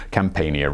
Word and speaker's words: Campania: BCE, eventually taking over what is today the Campania region.